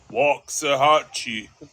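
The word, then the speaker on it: Waxahachie: I love wax AE or as they pronounce it walk aahi yeah there too many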